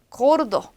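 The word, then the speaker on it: gordo: 가또, 가또, 고르도. 자, 앞에서 한번 말씀드렸으니까 골도라고 읽는 분이 없겠죠. 고르도, 고르도, 구아뽀, 구아뽀.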